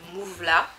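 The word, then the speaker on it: Movela: me voilà, et c'est Laurence de Mouvela, ça s'écrit M-O-V-E-L-A, immigration, et je décide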